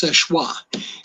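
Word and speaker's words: Seul Choix: It's spelled, if you look it up, Soelchoix, but it's French, so it's pronounced Seshwa.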